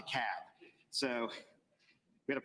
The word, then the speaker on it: DeKalb: Yankees in the room it's DeKalb not DeKalb not the Cobb is to cab so we got to pronounce these things Doherty another one of those where all Benny is they're 74.